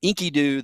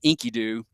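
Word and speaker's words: Enkidu: And he becomes friends with this um sort of crazy wild man named Inkyoo. That that's his name, Inkyoo, spelled with an e ki du.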